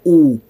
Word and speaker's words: Ubulongwe: It's pronounced ubulongwe. Ubulongwe. One more time. Ubulongwe. That's your IsiXhosa lesson for today.